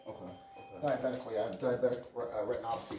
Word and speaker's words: retinopathy: Diabetically, I have diabetic retinopathy. It's called. I'm sorry. How do you pronounce it?